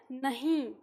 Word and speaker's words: नहीं: इसे क्या उच्चारण करते हैं हम, इसका उच्चारण है नहीं। जब हम इसका उच्चारण करते हैं ना नहीं, तो इसमें अनुस्वार की ध्वनि आती है।